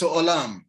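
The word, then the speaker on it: עולם: The word world in Hebrew is olam. So you can say olam It's spelled Ayin.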